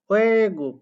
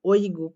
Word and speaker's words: 외국: 외국, ওয়ে গুক, কিন্তু এটা তো বললো না ওই গুক, এরকম কি বললো? তাহলে এই ওই উচ্চারণটা সঠিক না।